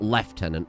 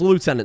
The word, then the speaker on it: lieutenant: Caught some flak cuz I called Sandy lieutenant and not left tenant, which is how it's pronounced in British English.